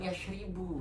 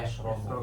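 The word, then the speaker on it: يشرب: Yasrobu. Bukan yashribu. Oh ya, Yasrobu.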